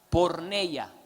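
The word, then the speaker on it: πορνεία: son diferentes fornicar fornicar en el griego se pronuncia por ella como por no la palabra por no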